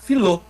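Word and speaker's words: φιλῶ: O filéu é a mesma coisa, né? Ele vai tirar o epsilon, vai ficar filô.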